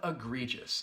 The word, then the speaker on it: egregious: Then we have egregious. I want to have a quick look at the pronunciation because this word has 3 syllables and the first and third syllable will have that schwa sound, that sound.